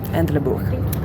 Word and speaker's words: Entlebuch: La prononciation n'est pas correcte, bien sûr. Non, tu l'as bien dit ! Oh, ok. Entlebuch.